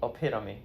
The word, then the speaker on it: epitome: Epitome. Epitome. That's how you pronounce epitome. It's hard to pronounce because the spelling does not look like what it would pronounce like.